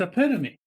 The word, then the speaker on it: epitome: that erica i do it's epitome i still look at it and think they should spell that word differently yeah uh so we